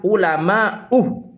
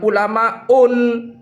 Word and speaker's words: ulama: Jadi ketika sebelumnya tanpa ada al, maka cara bacanya yang benar itu adalah ulama, bukan ulamaun tanpa tanwin.